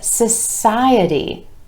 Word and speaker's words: society: Social becomes society, society, with emphasis on the I vowel sound right before our suffix, society.